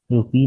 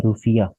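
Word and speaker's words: rufiyaa: मालदीव्स की करेंसी का जो असली नाम है रुफिया है, रुपी नहीं रुफिया। ये प्रोनाउंसिएशन सिर्फ चेंज है और स्पेलिंग, तो इसलिए मैंने अलग से ये लिख दिया आपके लिए।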